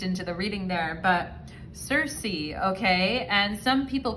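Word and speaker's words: Circe: the reading there but cersei okay and some people pronounce her name kirky the greek pronunciation of it but i'm gonna say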